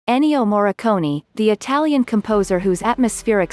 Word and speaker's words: Morricone: To many cineastes, Maestro Morricone, pronounced Mor-a-con-i, was a unique talent,